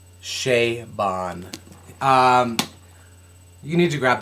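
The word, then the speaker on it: Chabon: cavaliere and Clay by Michael shaon that's right that is the correct pronunciation of that Shea Bon um you need to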